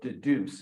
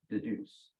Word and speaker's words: Dedoose: transcripts by putting them into a program called Deduce, if any of you are familiar with that. Okay, it's spelled D-E-D-O-O-S-E.